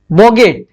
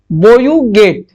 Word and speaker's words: bougette: French word जिसका क्या कहते हैं, BOUGETTE, इसको क्या कहते हैं, बोगेट। फ्रेंच में बोगेट कहते हैं, लेकिन कुछ कुछ आदमी इसको पढ़ाएगा बोयूगेट, लेकिन असली में बोगेट होता है।